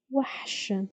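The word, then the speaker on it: وحش: Let's try to pronounce it. Wa, sh, wahsh, wahsh, wahsh.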